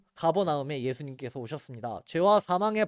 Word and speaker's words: 가버나움: 가버나움은 여기 갈릴리 호수가 있는 요 지역이 가버나움 땅입니다. 가버나움 도시에 예수님이 오셨습니다. 가버나움에 우리 말로는 가버나움이라고 하지만 이제 본토 발음으로 케르퍼나훔이라고 합니다.